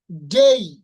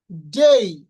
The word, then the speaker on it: day: কিন্তু আমাদের একটা জিনিস মনে রাখতে হবে, শব্দের শেষে যদি এ ওয়াই থাকে তাহলে এটার উচ্চারণ করতে হবে এই। যেমন এখানে লেখা আছে ডে, তাই না? তো আমরা সাধারণত বলে থাকি ডে, কিন্তু এটার উচ্চারণ হবে ডেই, ডেই, নট ডে, ডেই।